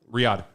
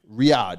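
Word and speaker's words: Riyadh: Arabia is it R Ria oh it's um Riad Riad yeah they was in Saudi Arabia out there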